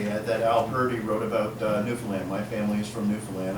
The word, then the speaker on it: Newfoundland: Nor is it to be called Newfoundland. The attempt to rhyme the last 2 syllables always seemed bizarre to me. Perhaps it is meant as a partial concession between mainland sensibility and local dialect. Just call it Newfoundland, if you please.